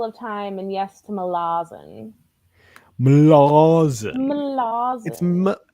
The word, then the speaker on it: Malazan: It is Malazan is the correct pronunciation that everybody but I'm ignores.